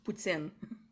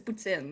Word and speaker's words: poutine: Wait, I have to say it properly for the Quebec people, like pulled pork poutine. It's a poutine, it's not a poutine.